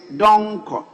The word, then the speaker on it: Donko: of your knowledge is don ko so what is the meaning of dong kong speaker that's my name it's just a pronunciation it's donko that's what i know so um so yeah